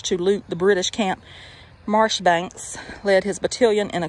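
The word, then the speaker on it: Marjoribanks: brave commander major john major banks pronounced marsh banks oh been warned the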